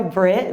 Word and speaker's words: Brit: I go by Brit because it rhymes with grit, and that's my brand.